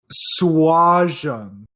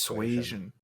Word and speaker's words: Suasion: To correct Jacob, it's Did I say it right? It's Suasion. Suasion.